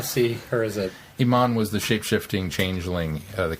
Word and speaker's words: Iman: and all one companion Iman no oh Elman no no no you you said it right I just I don't want to see that as a it's it's Iman is Iman but it is IM